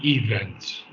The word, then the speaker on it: events: I did catch something it's not events it's event it's events events the events the events that shape the appearance of Our Lives events events okay events emphasis on V syllable yes MH events events